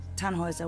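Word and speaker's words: Tannhäuser: why what's your name tanhauser we'd pronounce it tanhoisa with an umlaut German roots yes my grandpa these things on the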